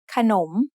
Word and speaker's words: ขนม: between นอหนู and มอม้า The first syllable ขะ is low tone, and the second syllable หนม is rising tone because the high class consonant ขอไข่ has an effect on both syllables.